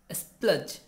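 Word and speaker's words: splurge: तो आज हमारा जो पहला वर्ड है वो है स्प्लज, है ना। देखिए ध्यान दीजिएगा, यहाँ पे आर जो है साइलेंट रहेगा और स्प्लज का मतलब जो होता है वो होता है पैसे उड़ाना, डींगे मारना।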